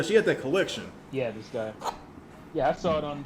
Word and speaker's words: Disgaea: I think she had a Disgaea. Was that the name of that game? A collection. Disgaea, yeah. Oh, is it Disgaea? Is that how you say it? Yeah, she had that collection. Yeah, Disgaea.